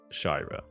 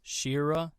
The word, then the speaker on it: Shyra: kind of just randomly came up with shyra but apparently it could be pronounced as Shira yeah I don't want it to get too confusing so I just made it shyra but upon doing more